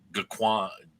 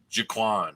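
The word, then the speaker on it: G'Quan: And who does Jakar will his copy of the book of uh, Gaquan? Jaquan, I pronounced that correctly.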